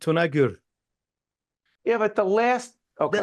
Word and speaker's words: Tunagur: Stephen Mary now isami you pronounced your last name a little bit different than I just did say it the way you say it actually you got it perfect tunur yeah but the last